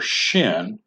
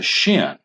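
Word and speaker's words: שין: dot above the Shin if the dot is on the right side then this letter is pronounced Shh and is called the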